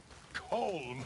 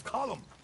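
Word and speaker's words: Colm: as well it's not cold it's column yes in Ireland we say column well he likes cold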